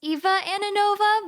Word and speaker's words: Ananova: Um, so technically it's Eva Anova, but sometimes I talk way too fast and it makes me slip up.